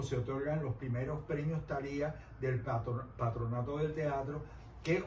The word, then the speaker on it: Talía: Talía, Talía en castellano, Talía con acento en la I.